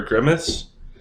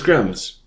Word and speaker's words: Grimms: We're going to cover Grimace. So let's pull him up so that way we know what we're talking about. And I'm probably saying his name wrong. So it's Grims.